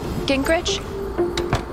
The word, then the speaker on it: Gingrich: into this three two one play steph uh gingrich is that how you say it yeah that's